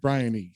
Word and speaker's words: Bryony: Like Scribbly's like Brian, and she's like, no, it's Brian with a Y, Bryony.